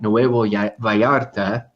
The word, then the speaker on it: Nuevo Vallarta: million earners coming to Nuevo Vallarta, which would sound more like Nuevo Vallarta. I want to say it right, just in case Luis is watching here.